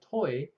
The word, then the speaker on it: TOI: Okay, and then it so happened that TOI has a French pronunciation called toi, which means you.